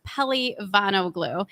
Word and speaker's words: Pelivanoglu: I know it's a really long last name. It's pronounced Pelivanoglu.